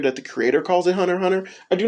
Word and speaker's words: Hunter x Hunter: One series that knows how to do this is Hunter x Hunter by Yoshihiro Tagashi. It has an X in it, but apparently you're not supposed to pronounce the X.